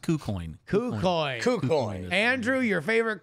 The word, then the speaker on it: KuCoin: No, it's pronounced KuCoin.